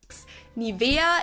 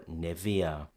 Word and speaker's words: Nivea: When we have EA at the end of a word, the sound would usually be E in monosyllables like flea, plea, see, tea. But in bisyllabic words, it probably looks to us more like area or cornea, and that's probably why we opt for Nivea.